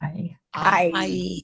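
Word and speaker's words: hay: And notice there's only one letter difference, but we pronounce all these letters except for the H. I. Ay.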